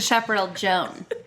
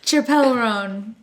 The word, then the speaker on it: Chappell Roan: Is that how you say it, or is it Chappell Joan? I think it's Chappell. Oh, Chappell Roan.